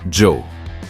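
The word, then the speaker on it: Djo: sur son projet musical Jo oui cela se prononce exactement comme son prénom et son groupe était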